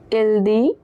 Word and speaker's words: dit: Il dit. Elle dit. On dit. So, the S and T at the end of dit are silent.